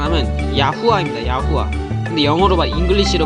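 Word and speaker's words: יהוה: 야후아. 근데 잉글리시로 발음하면 야훼. 그 팔리오 히브리로 발음하면 야후아입니다. 근데 야후아가 진짜 발음이죠. 야훼는 가짜 이게 더 약간 변형된 발음이고 야후아가 진짜 오리지널 발음입니다.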